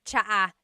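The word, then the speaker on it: tsaa: And it's spelled ts aa aa. Cha. Cha. That's such a Tagalog spelling. I love it. There's the ts sound and then the double vowel uh pronunciation.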